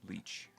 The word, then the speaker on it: Lech: welcome back we are here with Mr Leach am I saying that that's correct okay I was correct yes it's spelled funny but okay yeah I've heard people